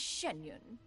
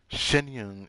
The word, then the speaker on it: Xianyun: refer to one as shenyun ah so that's how you say it she said it was such Gusto room every everybody's been saying her name R then shenyun she said it like shenyun I got I got